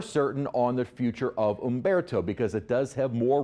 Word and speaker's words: Humberto: in the Gulf, but we do have our H storm, although the H is silent. Tropical storm Umberto has formed from what was Invest 93.